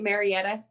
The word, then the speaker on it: Marietta: So you are a career advisor with, am I pronouncing it Marietta? You got it. Marietta.